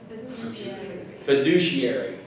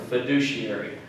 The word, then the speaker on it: fiduciary: sea is almost like a push a fiduciary fiduciary yeah that's how you pronounce that word fiduciary okay the next one is portability port ability